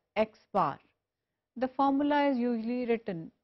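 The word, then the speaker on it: x̄: xn the sample mean is usually denoted by and pronounced as x-bar the formula is usually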